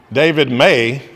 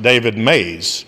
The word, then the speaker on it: David May: David May is often pronounced David Mays.